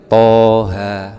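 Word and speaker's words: طه: Maka kita harus mempunyai guru, sehingga dibacanya Toha, tidak boleh Toha, juga tidak boleh Toha, tapi bacanya Toha, dimatkan 2 harokat atau 1 alif, Toha.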